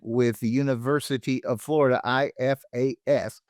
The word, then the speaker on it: IFAS: IFAS is how you say that.